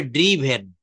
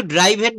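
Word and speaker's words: driven: আর এইটা হবে ড্রিভেন। এটা কি হবে? ড্রিভেন। ড্রাইভ ড্রোভ। এটা কিন্তু ড্রাইভেন বলবেন না। আমরা অনেকে এখনো ভুল উচ্চারণ করি।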